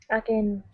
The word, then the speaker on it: again: word again so here instead of saying again with an a sound it's a short I a again again good job good to